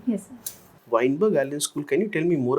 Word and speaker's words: Weinberg Allen School: watch during the monsoon Seasons you studied at wiberg Allen School yes am I pronouncing the name correctly yes sir Weinberg Allen School can you tell me more about about it